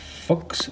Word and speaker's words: Fuxx: I ordered one of these the tone City fooks fuzz um that's how it's pronounced that's how it's spelled so in this